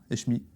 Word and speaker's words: Hechmi: Eshmi, c'est comme ça qu'on le prononce.